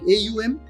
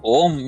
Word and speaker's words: AUM: are coming to AUM I don't know how you pronounce it like AUM it's om yeah it's om om